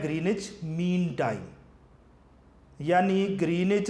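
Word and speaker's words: Greenwich: करीब एक कस्बा है ग्रीनिच लिखा विच जाता है लेकिन डब्लू साइलेंट है इसको ग्रीनिच कहा जाता है आप जब अपना टाइम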